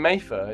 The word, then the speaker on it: Mattha: something yeah not not exactly how how it's pronounced to then finishing with exactly my name mayfer is is I did okay M all right